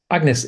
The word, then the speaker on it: Agnes: Agnes, is it pronounced correctly?